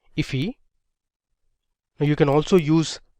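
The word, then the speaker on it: IIFE: So this is known as an immediately invoked function expression or I if which is often pronounced as ify.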